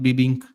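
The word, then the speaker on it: bebinca: B E B I N C A Binka, but it's pronounced Bibbink.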